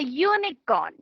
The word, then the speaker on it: unicorn: A unicorn. Unicorn is spelled with U but again pronounced with Y.